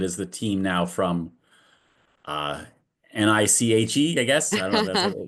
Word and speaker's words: NICHE: So it is the team now from NICHE, I guess.